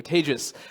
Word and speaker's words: Tejas: I have a slide with my name on it, but also a pronunciation for you, Tejas, like advantageous, or I used to, before the apocalypse, I used to say contagious, but anyway.